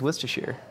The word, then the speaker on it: Worcestershire: assured that they were, rest assured is kind of how you pronounce Worcestershire. Did that happen in all your minds too? I said rest assured, and you're like, no, it's Worcestershire.